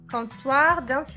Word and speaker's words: comptoir: Comptoir d'enregistrement. Comptoir d'enregistrement. Notice how I don't pronounce the P.